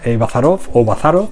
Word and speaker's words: Bazarov: Bazarov, como lo escriben aquí con el acento en llana.